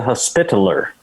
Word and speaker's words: Hospitaller: As Bane the Hospitaller is how you pronounce that.